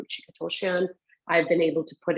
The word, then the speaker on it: Ruchika Tulshyan: start off a meeting, I'll make sure I'll pronounce my name Ruchika Toshian.